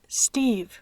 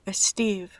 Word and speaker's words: Steve: Por ejemplo, el nombre es Steve, no Steve. Steve speaks Spanish.